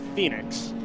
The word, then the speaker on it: Fenix: it's typo or what but team Fenix or team Phoenix it's Phoenix it's not spell like Phoenix not a tap yeah